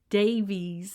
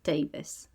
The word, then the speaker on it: Davies: can I ask you how you feel about Davis being said wrong cuz a lot of people call this me Davies I don't like Davies no it's not right